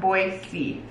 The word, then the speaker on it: Boise: first one Idaho oh cute I'm going to Boise I'm going to Boise it's pronounced boyy oh sorry oyy wait that's cute I love